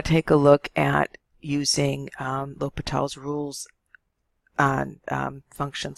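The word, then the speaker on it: L'Hôpital: we're going to take a look at using l'hopital's rules on functions like limits like that so here is a statement of the rule a lot of people say l'hospital's because it looks like the word hospital is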